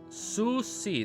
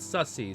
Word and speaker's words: Susi: replied and not seriously Susi Susi not Susy Susi sat down and